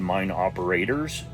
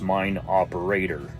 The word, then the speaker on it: Mine Operator: In the video, I mispronounced it and said Mine Operators. That's not correct. It's Mine Operator.